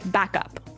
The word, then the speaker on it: backup: important hey yes yes you have to say backup Backup backup yeah so both words are stressed at about the same level hey mhm back up